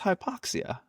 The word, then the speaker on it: hypoxia: What is hypoxia?